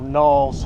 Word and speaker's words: Niles: All right, the wonderful city of Niles, or Knowles as they pronounce it around here.